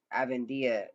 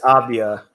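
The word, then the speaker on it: Avdija: When we talk about Westbrook, Bill, you could insert Avendia. Is that how you say his name? Danny Avendia in there. It's Avdia.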